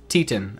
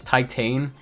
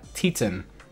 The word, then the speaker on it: Titane: I can so yeah Tian I think is how you pronounce this film I would always pronounce this as titane like I don't know if that's how you pronounce it but um I heard somebody recently call it uh Tian and I was like oh okay um so I'm probably I've probably been wrong for the past 3 years but um this